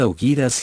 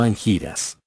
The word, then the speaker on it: Angiras: Así en angiras, pronunciad augiras y no angiras.